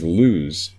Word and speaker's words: lose: and rose and lose this one's interesting because lose even though it has an oh just like rows and dos it's pronounced as though it has a version of a you lose food that's the same you sound as food lose food now they